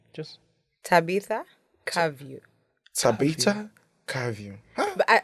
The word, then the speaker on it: Tabitha Kavyu: Just Tabita. Cavio.